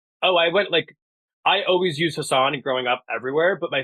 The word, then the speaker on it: Hassan: So I came out here and I used Hassan, which is like the way that you would pronounce my name if you're speaking Urdu or if you're a South Asian person.